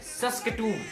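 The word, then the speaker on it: Saskatoon: Another important and very famous city जो मैंने सुना अब तक, जिसका नाम है सस्केटून। मैं ये जो प्रोनाउंसिएशन बोल रहा हूँ ना, इस वीडियो से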